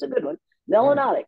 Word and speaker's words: melanotic: it's a good one melanotic which rhymes with exotic learn those three terms